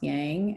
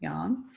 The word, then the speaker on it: yang: one is young young everybody thinks it's pronounced yang it's not it's young um so the difference